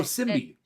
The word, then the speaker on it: symbiote: Oh, Symbiote.